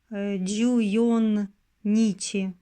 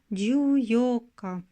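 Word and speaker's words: 十四日: On ne dit pas « e junnichi », mais « juyoka ».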